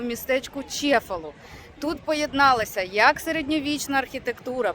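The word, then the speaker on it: Cefalù: Короче, от містечко, як я вже сказала, називається Чефалу. Англійською мовою воно читається кефалу. Е, і пишеться воно через букву С.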